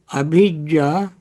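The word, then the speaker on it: abhijjā: Don't confuse abhijja with avijja. Abhijja is spelled in Pali A, B, B as boy, H as Harry, A, J, J, abhijja. Avijja is spelled as A, V as Victor, I, J, J, A, avijja. Avijja with V is ignorance.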